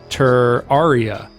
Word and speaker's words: Terraria: it pronounced terraria and tur aria but i think it's terraria because of terrarium that's honestly i've heard